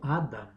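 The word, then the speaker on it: אדם: En hebreo Adán pronunciado Adam, Aleph, Dalet, Mem.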